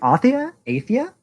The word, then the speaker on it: Athia: Project Athia? That's how it's pronounced, but new Square.